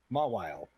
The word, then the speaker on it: Mawile: how do you pronounce the name of these Pokemon? Maui? Mawile? Mawile.